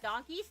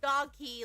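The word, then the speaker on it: Donki: I'm showing a birthday with donkeys. No, it's not pronounced donkeys. It's It's pronounced donkey, but it's actually d o n k i. Yeah. D O N K I. It's not pronounced donkey like the animal donkey.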